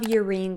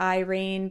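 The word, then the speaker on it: Yrene: And I know a lot of people like to call her Irene, but I'm telling you right now, if it was supposed to be Irene, it would be spelled with an I. It is not. It is Urein Towers.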